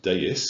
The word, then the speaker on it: DAIS: is a danger area activity information service pronounced dais deus deus and that will give